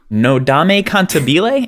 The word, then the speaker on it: Nodame Cantabile: 10 is Nodame Cantabile. Am I pronouncing that correctly? It looks Italian. Okay. Yeah, it's Nodame Cantabile. Cantabile.